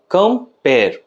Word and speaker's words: compare: উচ্চারণ হবে কেমন ভাবে একবার হবে কাম এবং দ্বিতীয়বার হবে পেয়ার কম্পেয়ার কম্পেয়ার তাহলে আমরা উচ্চারণের নিরীক্ষে এটা বলতেই পারি যে কম্পেয়ার শব্দটি দুটো সিলেবল দিয়ে তৈরি যেকোনো একটি শব্দে এই